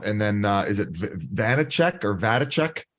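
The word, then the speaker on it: Vaněček: He got paid five times five, but second and third are Samsonov, and then uh is it Vanecek or Vitek? How do you say his name? Vanecek. Vanecek.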